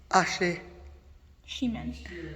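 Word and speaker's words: Acjachemen: Achihaman. Nation. Pronounced Ashe Shiman.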